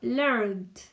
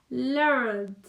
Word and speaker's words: learned: Learned. Learned. Para pronunciar el pasado, nada más vamos a hacerle un poquito más de énfasis en la D sonándola como T.